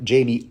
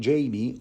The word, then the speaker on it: Jaime: anyway the next morning Jamie or should I say Heimer I mean it is spelled like the Spanish name haimer so why not Jango